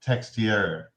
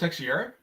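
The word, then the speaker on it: Texeira: Uh it's Mock Mock Textier. Is it pronounced Texier?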